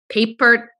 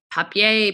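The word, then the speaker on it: Papert: you pronounce his name paper papier p p looks like paper with a t on the end seymour and he and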